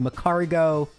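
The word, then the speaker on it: Magcargo: Macargo, though, is pronounced Macargo.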